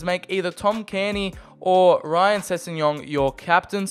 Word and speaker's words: Cairney: And Bacon Boy also said Carney. Well, I was saying Carney. It's pronounced like Cairney.